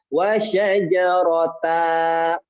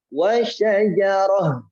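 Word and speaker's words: وشجرة: Tapi kalau tak marbutoh jangan. Kenapa? Karena kalau tak marbutoh menjadinya huruf ha. Wa syajaratan dibaca wa syajarah.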